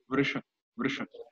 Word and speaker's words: Vrisha: But it's like three words together without any vowel in between, and then a difficult to pronounce vowel, which is Vri. So it's little compact in this case, but the pronunciation goes like this: Vrisha.